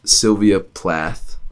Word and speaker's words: Sylvia Plath: podcast I'm gonna say it anyways is from Sylvia Plath that's how you pronounce that and it is the worst enemy